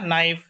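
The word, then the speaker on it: knife: উচ্চারণে আসে না হ্যা নাইফ শুরুতে কে উচ্চারণে নাই অনেক সময় এরকম হয়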